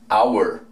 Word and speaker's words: hour: Si voy a decir hora. Hour. Hour. En ningún momento sonó la H.